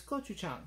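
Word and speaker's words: 고추장: They've got the pronunciation for gochugaru, which is not the pronunciation for the paste. The paste is gochujang, like they have there. Gochugaru are the peppers, are the pepper flakes, which I have some.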